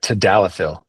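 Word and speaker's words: tadalafil: Yeah, tadalapil.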